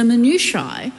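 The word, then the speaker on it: minutiae: member of this house for going into the minui which is how it's normally pronounced um of um a bill it's exactly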